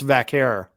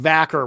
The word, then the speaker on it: Vaquer: I believe it's Vaquer, but I'm not Vaquer. positive. That seems to be the most common Yeah. pronunciation I've heard. No. I've also heard it pronounced Vacker, which there's no way that's correct.